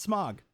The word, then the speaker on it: Smaug: That's not how you say it. Don't say smog. S m a u g. It's not smog. Okay. Technically, it's smog, but a lot of people say smog.